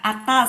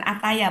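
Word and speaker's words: أتى: Kemudian kalau di tengah, nih kalau di depan akala, akhoda, ata bacanya ata sebenarnya bukan ataya, bukan ata gitu. Karena bukan ya itu.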